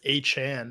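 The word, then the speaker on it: Achane: his last name Zach Devin a chain I think it's I think he clarified it's a Chan now H and you're right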